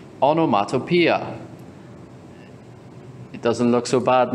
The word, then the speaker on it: onomatopoeia: a lot of o's it's pronounced the last two parts are pia onomatopoeia it doesn't look so bad now so what is onomatopoeia hmm onomatopoeia are words